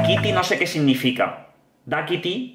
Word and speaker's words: Dákiti: Da Kitty, porque lleva acento en la A, Da Kitty no sé qué significa.